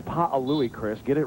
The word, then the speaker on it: Pa'alui: Yeah, he came up and kind of got on me today for mispronouncing his name a couple of weeks ago. He said, it's Pa'alui, Chris.